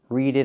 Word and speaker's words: read it: Read it again. We hear the T and it pronounces a fast D.